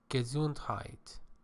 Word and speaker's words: Gesundheit: This is a German word. It is pronounced Gesundheit.